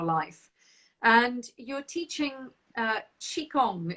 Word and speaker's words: qigong: and you're teaching uh chi kong is that how you say it qigong yes yes i teach qigong